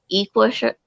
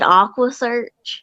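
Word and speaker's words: EquuSearch: He mispronounced Equisearch. And he said Aquasearch.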